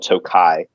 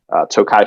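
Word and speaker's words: Tokaj: versions are usually uh from an area called tokai which is spelled differently depending on where you're buying it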